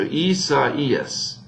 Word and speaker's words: Isaias: So Isaias, right?